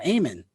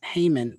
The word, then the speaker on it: Haman: and he says for Haman or amen because it's written in Greek so the H is silent but it's Haman the amen of Macedonian